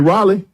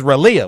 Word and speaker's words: Raleigh: You mean Raleigh? Raleigh. Oh, okay. Close enough. That's how you say it? How you say it again? Raleigh. You for real? Yeah. But it's spelled R-A-L-E-I-G-H. Raleigh. That's Raleigh.